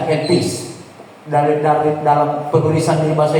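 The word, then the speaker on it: ἐλπίς: Saya sudah kasih cara bacanya di bahasa Indonesia, elpis.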